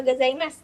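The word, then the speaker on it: ございます: emang O-nya yang panjang, dan gozaimasu kalau S di belakang dengan SU itu berarti bacanya hanya S aja.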